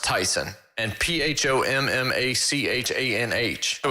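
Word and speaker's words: Taisun: i've looked it up so it's t-a-i-s-u-n that's pronounced tyson and p-h-o-m-m-a-c-h-a-n-h oh it's tyson pumachon really tp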